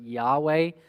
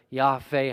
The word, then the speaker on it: Yahweh: Later, some vowels are added, so we call it, we pronounce it Yahweh. It's more like Yahweh, Haveh.